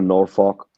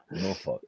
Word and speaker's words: Norfolk: Virginia, Maryland, like they even said it's it's it's you don't pronounce the L or folk.